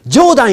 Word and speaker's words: 冗談: 私の自叙伝は飛び出す絵本です。By the way, Judon't in Japanese is pronounced Judon't, which means joke.